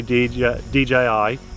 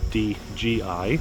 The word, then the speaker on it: DJI: However, I'm also really glad to see DJI, not DGI, a lot of people pronounce it incorrectly, with a budget option,